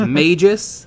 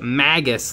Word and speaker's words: magus: and i was wrong i thought it was mages like mage but it's magus like maggot can you connect oh